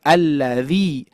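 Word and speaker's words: الذي: alla makanya dibacanya berbeda bukan alla tapi alladzi berikutnya huruf dza ujung lidah menempel ke gigi seri atas dza gini ayah bund dza dza alladzi alladzi ah dibiasakan ya dibiasakan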